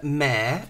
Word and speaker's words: Maire: And this is from Maire, rhymes with scare.